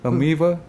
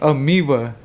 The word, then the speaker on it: Amoeba: Amoeva. Uh the record store right there in Amoeva. Is it pronounced with a B or a V? Amoeba.